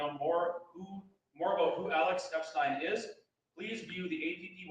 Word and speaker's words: Epstein: FYI, Alex's last name is pronounced Epstein, not Epstein.